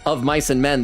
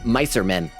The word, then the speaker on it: Of Mice and Men: Most of them are saying the name wrong. Instead of saying Of Mice and Men, they're saying Micer Men.